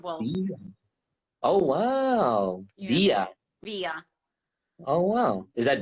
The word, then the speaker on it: Via: Yeah, Via.